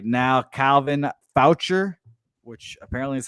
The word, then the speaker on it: Foucher: Calvin Foucher, which apparently is how you say his name, 18 pitches last night, got the save.